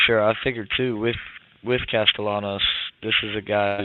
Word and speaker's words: Castellanos: That's what I figured, but I was saying Castellanos.